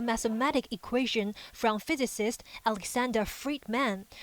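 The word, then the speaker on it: Friedmann: equation from physicist Alexander Friedman whose name rhymes with free men according to initial media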